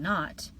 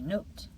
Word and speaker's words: not: Or instead of saying not, they might actually say note.